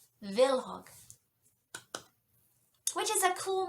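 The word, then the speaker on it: Kvilhaug: was mildly curious and much like the word knife in the English language the K is silent so it's villog which is a cool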